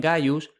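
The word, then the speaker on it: Gaius: De ahí que el prenomen gayus se escribe con c, pero suena g.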